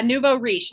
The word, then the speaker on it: nouveau riche: Yeah, nouveau riche, like with a SH, but it's the CH makes a SH.